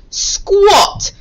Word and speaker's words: squat: is called a squat squat sounds like an r spell with an a can you see it on your on your bingo board squat here it is spelt with an a sounds like an o squat here it is